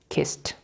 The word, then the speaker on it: kissed: This is not pronounced kiss it. How do you pronounce it? Kissed.